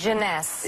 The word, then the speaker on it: Jeunesse: How do you pronounce this? Jeunesse.